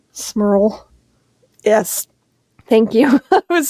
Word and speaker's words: Smurl: Smurl. Yes. Thank you. I was just like, I don't want to get that name wrong.